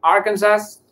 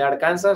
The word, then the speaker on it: Arkansas: Entonces va a estar muy frío, en general por toda la zona, y miramos también Arkansas, en vez de Arkansas, así lo pronuncian aquí.